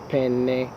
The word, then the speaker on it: penne: is the writing utensil pen versus penne notice the double consonant the two ends together gets a little more emphasis okay next example daughter